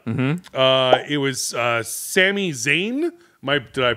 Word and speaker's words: Sami Zayn: it was WrestleMania MH uh it was uh Sami Zayn my did I pronounce that right perfect cool uh I don't